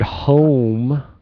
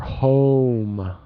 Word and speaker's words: home: enough only only and the word home need to stretch the vowel more home oh yeah I think you said it kind of like home at the home okay and it's all yeah